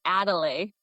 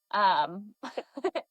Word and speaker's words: Adele: I know, and I told her, I was like, I used to think you pronounce your name Adelaide. Adele.